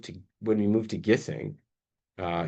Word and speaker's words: Gissing: when we move to when we move to gissing uh gissing gissing How I don't know even I think so.